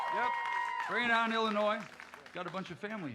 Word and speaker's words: Illinois: The next gentleman standing right here is from the great state of Illinois. The S is silent. Yep, bring it on, Illinois.